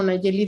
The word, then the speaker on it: Nayeli: Me pueden encontrar como Nayeli. Mi nombre se escribe muy singular, entonces con H intermedia entre la L y la I.